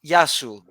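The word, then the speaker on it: Γειά σου: Yasu if it's if you're talking to one, Yasu to you. But if you're talking to Okay. many, Yasas. But the plural, sas are many.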